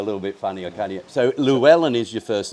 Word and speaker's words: Llywelyn: these accents a little bit funnyer can't so lellan is your first name so how would you pronounce that in Wales so the Double L in Welsh is pronounce